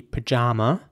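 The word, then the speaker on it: pyjama: The British way would be pajama with an R sound for both A's. Pajama. And in American English, it would be more like pajama with an A sound in the middle.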